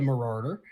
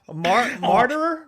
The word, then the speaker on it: martyr: And the way that I look at it is, as well, if you want to be a marauder, or I fucked up the pronunciation. Martyr.